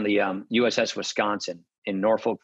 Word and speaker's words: Norfolk: um uss wisconsin in norfolk virginia or norfolk as they say it there um you learn all